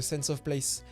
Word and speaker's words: sense of place: concept qu'on appelle le sense of place. Et on le prononce à l'anglaise parce qu'il n'y a pas vraiment d'équivalent français.